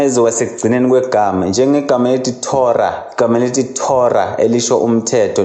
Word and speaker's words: Torah: No hey naye kuyenzeka abe silent uma ezoba sekugcineni kwegama, njengegama elithi Torah.